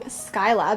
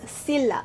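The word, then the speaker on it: Scylla: on my last video i also believe i was saying skyla because that's what google told me apparently the actual greek pronunciation is silla so i'm going to be saying sila and if it's apparently skyla i'm sorry i'm getting conflicting information and i don't speak greek so yes the three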